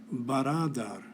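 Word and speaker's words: برادر: This becomes a little more clear in the Persian column, where the word is baradar.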